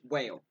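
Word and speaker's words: Wale: I think it's still supposed to be pronounced whale. That's because like the only way to make that Wall is put like the accent mark above the E. Yeah. Other than that, it's just whale.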